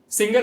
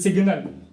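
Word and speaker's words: signal: अक्सर लोग क्या कहते हैं? सिंगल हो गया। ट्रेन चलने वाली है। सिंगल हो गया। जबकि स्पेलिंग क्या होती है? एस आई जी एन एल सिग्नल।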